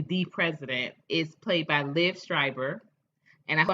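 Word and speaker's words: Liev Schreiber: um and subsequently the president is played by liv schreiber and i pronounce his name right liv schreiber uh and i have loved liv strivers acting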